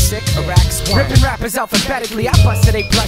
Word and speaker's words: Sycorax: I'll demonstrate phonetically. It's Sycorax.